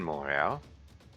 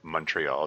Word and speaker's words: Montreal: from within Moro or Montreal if you prefer the anglicized pronunciation.